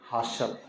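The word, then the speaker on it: hustle: कीला होता एय एसटी हसल य टी साइलेंट रहेगा एलटी देख रहे एलटी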